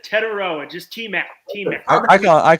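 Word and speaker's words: Tetairoa: As you say his name, Steger, it's Tetaroa McMillan. I say Tetiora because it's how the letters spell out. It's Tetaroa, just T-Mac.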